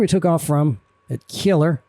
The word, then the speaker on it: Kjeller: All right, so here's where we took off from at Kjeller. And I think those J's are pronounced kind of like, think of like fjord, almost like a Y sound in English.